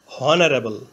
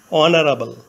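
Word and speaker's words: honourable: বাংলা হয় এর মত প্রথমে এইচ ধরে উচ্চারণ করলে হয় হনারেবল কিন্তু এইচ এর উচ্চারণ না হয়ে ভাওয়েল ও থেকে উচ্চারণ শুরু হয়েছে অনারাবল এইচ এর উচ্চারণ অন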